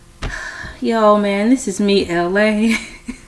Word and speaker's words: Elay: Yo, man, this is me, Elay. Pronounced like LA, like the city.